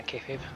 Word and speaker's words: kayfabe: at least a bit of breaking of the kayfabe. That's how you pronounce it, right? Yeah, kayfabe.